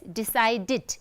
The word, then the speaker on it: decided: we add ed, and the way we have to pronounce is decided, it, as if it's id, decided, decided. So, decide is a 2-syllabic word, so it becomes 3-syllabic word, right?